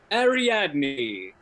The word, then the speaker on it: Ariadne: by as students file out of a lecture ariadne is how you say it a young woman